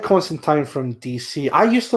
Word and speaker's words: Constantine: say no no but it's not constantine it's constant time the word time rhymes with flying or wine even the character himself